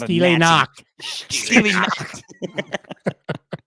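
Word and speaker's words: Stille Nacht: we have White Christmas versus, how do I pronounce that again, Aric? I'm not Steely a Nacht. Steely Nacht. Steely Nacht or Silent Night, if you will.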